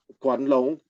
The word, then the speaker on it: Guanlong: graphic representation of the quangong aristocracy Okay quangong g n and the g is pronounced like a k like in kangaroo Guan long l o